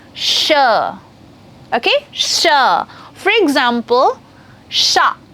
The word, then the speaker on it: chat: For example, sha. It's not chat, C-H-A-T. It's not chat. It will be pronounced as sha.